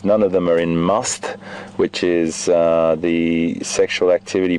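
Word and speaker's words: musth: None of them are in must, which is the sexual activity period where you'll see the secretion coming out of the gland behind the eye. And that's spelled M-U-S-T-H, must.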